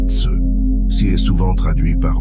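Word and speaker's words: 慈: Le premier trésor, le plus grand des trois, il l'appelle Si, prononcé Tse.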